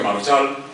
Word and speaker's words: marjal: Y entonces este señor ha investigado el término marchalena, desde el principio procede de marjal, que se pronuncia marchal, y en algún tiempo